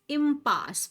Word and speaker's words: impasse: They pronounce the word impasse with the stress on the second syllable.